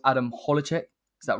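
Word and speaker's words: Hložek: I nearly butchered this guy's name before. It's Adam Hlozek.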